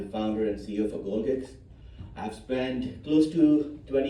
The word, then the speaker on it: Golgix: And uh I'll answer that question first and then get into the slides right why is it called gold gigs many people pronounced it gold jigs gold gigs and I've come across